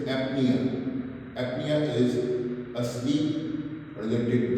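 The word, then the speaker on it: apnoea: A P N O E A. Its pronunciation is apnea.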